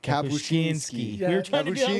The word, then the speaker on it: Kapuscinski: Kabushinski before we got on here.